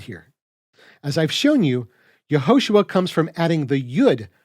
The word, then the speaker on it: Yahushua: sacred name point is yahushua's name is pronounced yahushua exactly as it's written in the Hebrew so what then does